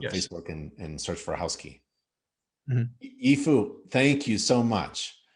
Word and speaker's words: Housky: yes and it's housekey at uh housekey doio is the main URL housek key.